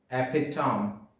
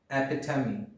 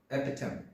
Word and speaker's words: epitome: that is epitome people generally say it as epitome which is incorrect pronunciation epitome is the correct pronunciation epitome move to the next one how do you